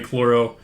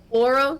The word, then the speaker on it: Chloro: heard of slime language it's normally chloro running with them oro that's how you say it yup you got it right first time all right perfect at